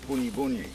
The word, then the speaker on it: bunyi bunyi: See, bunya pines are not bunya pines. I don't know where they got that name from. Their pronunciation is the word bunyi bunyi.